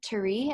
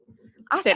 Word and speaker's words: Tere: Terry, am I saying that right? Terry? Good. Tere. Awesome. Huh? Tere. Oh. Did I say it right? Tere. That's it. Yep, that's it.